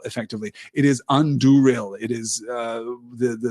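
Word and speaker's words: Andúril: What does the accent on Anduril mean for the pronunciation? Does it have any impact at all on the stress of the word? Maybe the little accent mark above a vowel in a Sindarin word means that is a stressed vowel.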